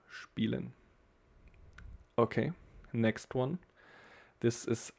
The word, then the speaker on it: spielen: With here, we got this one, spielen. No, we don't say spielen, but we say spielen. And here you can see again this I and E together, so we got like spielen.